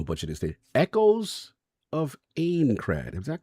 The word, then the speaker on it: Aincrad: Echoes of Aincrad. Is that correct, Soph? I need correct pronunciation. Yeah. Aincrad.